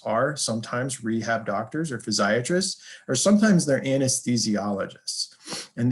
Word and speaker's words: physiatrist: of those then there's physiatrist that's what I am a physiatrist is a rehabilitation physician some people call them physiatric and it can be confusing because it rhymes with psychiatrist or pediatrist um but this is